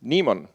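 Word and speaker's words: Naemon: the project name is Nemon so far. I always like anagrams. So Nemon means Networks, Applications, and Event Monitor. You pronounce it just like demon.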